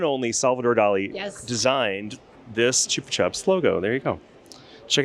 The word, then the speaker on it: Chupa Chups: We say in America the Chupa Chups, but it's actually pronounced Chupa Chups.